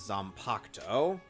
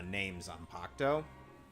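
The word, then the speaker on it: Zanpakutō: or wields known as zompocto oh of course they don't pronounce the u in in the uh names on pacto what's wrong with your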